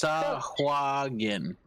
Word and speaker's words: Sahuagin: Pronounce It is Sahuagin. Sahuagin. Jin. Sahuagin. Sawajin. Sawajin. Yeah. Sawajin.